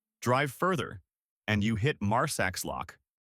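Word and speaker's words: Marsaxlokk: Drive further and you hit Mars lock. Yes, it looks unpronouncable. Say Marslock. It's a fishing village painted with candy colored boats.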